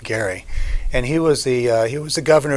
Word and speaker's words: Gerry: Last name is pronounced Gary, and he was the governor of Massachusetts in 1812.